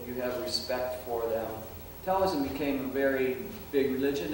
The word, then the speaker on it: Taoism: on animism that is Taoism sometimes it's spelled with t-a-o sometimes it's spelled d-a-o metallism is an original